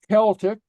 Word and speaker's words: Celtic: okay pronunciation okay so C is pronounced like a k and so here's some words Kimmer oh okay yeah so so say after me Kimmer Kimmer okay KK K uhuh okay Celtic Celtic Celtic okay so it's not